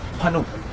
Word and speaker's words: Pannu: Pronounce it. Pannu.